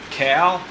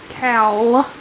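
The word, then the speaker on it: cowl: afternoon so we have our brand new front cow c a w l I believe it's spelled okay cow yeah c-o-w-l yeah yeah that's what I said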